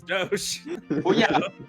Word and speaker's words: doge: not yeah but the that word is dosh based on the venetian doge uh i'm just waiting